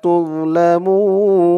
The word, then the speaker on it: تظلمون: তুম তা দিয়ে মিম ধরবে তুম তুম لا تظلمون لا أكلفتن وأنتم لا تظ তা দিয়ে জ ধরবে তোজ উচ্চারণটা খেয়াল করবেন। জর উচ্চারণটা করার সময় মুখটা একটু ভরপুর হয়ে যাবে এমন মনে হবে।